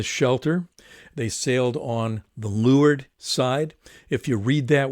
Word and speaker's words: leeward: they sailed on the lured side if you read that word anywhere it looks like it is leeward and you'll hear people pronounce it but sailors all always say lured side and so they sailed